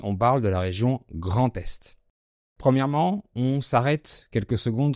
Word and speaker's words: Grand-Est: par un son voyelle, on fait la liaison avec un T, pas avec un D. En plus, l'adjectif grand fait partie de ceux qui se mettent avant le nom. Donc on prononce Grand Est.